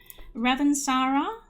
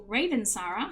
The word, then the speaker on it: Ravensara: That is the Ravensara or Ravensara, I've heard it pronounced both ways, weave.